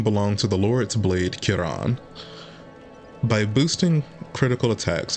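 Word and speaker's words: Ciaran: So, I feel like there can be no debate that FromSoft intended it to be pronounced Kiran.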